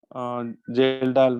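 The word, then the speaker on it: Kjeldahl: ठीक है, इसको जेल्डाल बोलो केल्डाल बोलो, सब एक ही बात है। उसमें कुछ लोग उसको के को साइलेंट मानते हैं तो जेल्डाल बन जाएगा वो। अगर आप जे को साइलेंट मानोगे तो केंडाल हो जाएगा, एक लेटर साइलेंट होता है इसमें।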